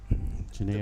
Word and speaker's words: Janir: Janir Gonzalez, and then Janir. The Basque language is a collection of X's and Q's and Z's that is pronounced totally different.